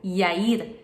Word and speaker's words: Yair: Jairo ou Jair se pronuncia em hebraico Yair e significa aquele que ilumina.